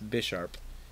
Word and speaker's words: Bisharp: or Bisharp I always say it wrong it's Bisharp and Galvin chola cuz its crunk boy or